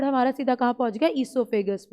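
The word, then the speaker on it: oesophagus: ईसोफेगस होता क्या है, अब देखो, ईसोफेगस, प्रोनाउंसिएशन गलत नहीं करना, ओ जरूर लगता, ओसोफेगस नहीं होता, हमेशा ईसोफेगस होता है।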